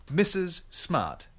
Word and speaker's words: Mrs. Smart: Nama tersebut mempunyai dua bunyi S. Mrs. Smart. Mrs. Smart. Sekarang tirukanlah. Mrs. Smart.